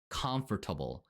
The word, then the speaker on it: comfortable: comfortable이라는 단어를 발하 때 comfortable 하고 발음하지 않고 comfortable comfortable 하고 발음을 해야 원어인 귀에 자연스럽게 들립니다 또 토플의 스피킹 태스크는